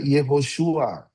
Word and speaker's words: Yehoshua: Kalau yod dan he di depan itu dibacanya ye bukan ya. Makanya kita baca Yehoshua, Yeheskiel, Yehonatan, Yehoel.